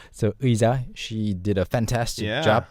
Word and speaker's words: 의자: So it's not 의자, it's not 이자, it's 의자. Yeah. 의자. and 이 in one syllable. So 의자, she did a fantastic job there.